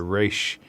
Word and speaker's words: Resh: a native Hebrew speaker, the resh makes more of a gargling sound, like Resh. like resh. Like you never touch the tip of your tongue to the bottom of your mouth when you say the letter.